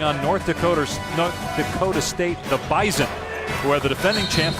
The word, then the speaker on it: Bison: Is that the same Bison that hit Bison.